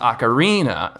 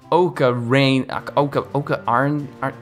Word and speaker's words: ocarina: pronounced melee not melee ocarina is pronounced ocarina not oka rain art oak arena ocarina other than this stuff